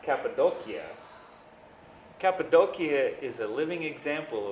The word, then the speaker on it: Cappadocia: throughout your life number one Turkey Cappadocia it's pronounced cappadocia cappadocia is a living example of just how